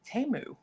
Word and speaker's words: Temu: They pronounced it Temu. Tamu, yeah.